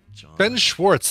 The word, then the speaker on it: Ben Schwartz: Ben Schwartz.